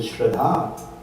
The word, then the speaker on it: Shraddha: But Shraddha is just one short A.